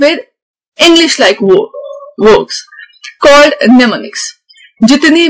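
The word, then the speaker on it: mnemonics: ये start M से होते हैं इसके स्पेलिंग, बट इसकी प्रोनाउंसिएशन है नेमोनिक्स। नेमोनिक्स वो शॉर्ट इंग्लिश लाइक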